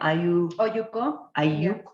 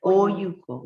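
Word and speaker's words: olluco: Oyuco. Oyuco. Yeah. Oyuco. Yeah, Oyuco. Can you spell it for us? It's O-L-L-U-C-O. Double L is pronounced with a Y, right?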